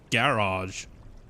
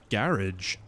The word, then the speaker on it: garage: So, we stress we stress the first syllable with like garage, but like people UK say garage, which just sounds so funny to me. like patronage or something, you know, it gets pronounced that way. Garage. Patronage. Garage. Yeah, but that just sounds so formal. It's like a French place to park your car.